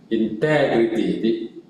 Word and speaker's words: integrity: So it's like integrity. What's the word? The accent is on integrity. Integrity.